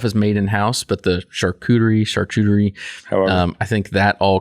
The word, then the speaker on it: charcuterie: to address this now say that word again charcuterie charcuterie is how I pronounce it I don't know well I don't know you've been in the business your whole life I imagine you're probably right no don't trust my pronunciation okay all right I think it's true you might be saying the real way I'm just saying I'm just using like the American lingo for it okay go ahead um